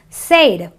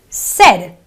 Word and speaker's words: said: You don't say said. You know, non-English speakers sometimes pronounce this word as said. It's not an A sound. It is a eh sound. So it is a said, an eh sound. And eh, the eh sound.